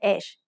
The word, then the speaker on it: ฮ: ฮอนกฮูก makes a h sound just like the h in hoot.